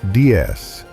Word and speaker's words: DS: Designed by Italian sculptor Flaminio Bertoni and aeronautical engineer Andre Levra, the DS, pronounced DS, meaning goddess in French, wasn't just a car.